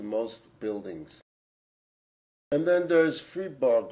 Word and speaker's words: Fribourg: And then there's Fribourg, or as the French pronounce it, Fribourg, also a small municipality of about 38,000 in western Switzerland.